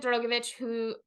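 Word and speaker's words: Drugovich: Felipe Drogovic, I believe that's how he pronounced his last name, who drove the Aston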